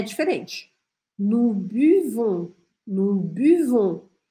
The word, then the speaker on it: buvons: Nous buvons, nous buvons. Tem que fazer esse biquinho aqui, ó. Buvons. Pensa que os franceses bebem de uma forma bem elegante. Um golinho bem pequenininho. Buvons, nous buvons.